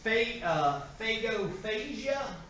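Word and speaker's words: pagophagia: This phagophagia is how you pronounce this.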